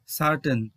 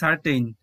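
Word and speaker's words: certain: ওয়ার্ডটি হচ্ছে সার্টেন, সার্টেন, এটাকে আমরা ভুল করে বলি সার্টেইন। কেন টেইন বলি? TAIN, টেইন, কিন্তু যেহেতু সিলাবিক কনসোনেন্ট এন রয়েছে লাস্ট সিলেবেলে তাহলে এটাকে আমরা উচ্চারণ করব টান, টান এমন করে, কারণ অন্য যে ভাওয়াল রয়েছে এই ভাওয়ালগুলোকে এই সিলাবিক কনসোনেন্ট উচ্চারণ করতে দেবে না, তাই এর উচ্চারণটি হবে সার্টেন, সার্টেন।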